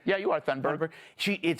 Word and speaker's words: Thunberg: Am I pronouncing it right? Yeah, you are, Thunberg.